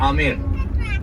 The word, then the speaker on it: आमेर: में जा रहे हैं ए एम बी ए ए आर in pronunciation B silent तो हम इसको बोलते हैं आमेर अंबर स्टोन और और